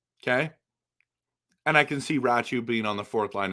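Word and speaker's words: Räty: It's Ratu. Ratu, and I know it's spelled Ratty, okay?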